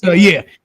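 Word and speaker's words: Tetairoa: His name's like Terry Soa. I can't pronounce it, but I thought it was. It's Teterioa McMillan.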